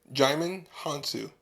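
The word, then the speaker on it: Djimon Hounsou: Jaimin Hansu. Oh, the D is silent?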